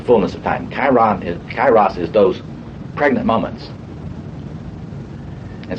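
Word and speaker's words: Kairos: Kyros. Okay. Can I spell that right?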